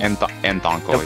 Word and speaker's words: Anthonkle: I don't know how to pronounce his name. Anthonkle? Anthonkle, yep.